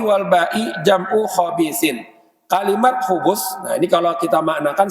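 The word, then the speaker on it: خبث: Wal khubus itu bidhammil kha wal ba, bacanya Sidin. Dengan dhammah kha-nya dan ba-nya.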